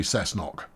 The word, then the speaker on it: Cessnock: yes who to cessnock it's definitely gonna be cessnock yep it is i don't care how you think it should be pronounced is pronounced cessnock uh and we'll uh